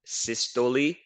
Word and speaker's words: systole: So that's how you pronounce it. Systole and diastole.